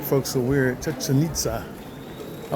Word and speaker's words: Chichen Itza: And I always pronounce that one wrong also. What were you calling it? Chichen Itza, but it doesn't sound right when I say it.